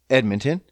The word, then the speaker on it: Edmonton: It's pronounced Edmonton.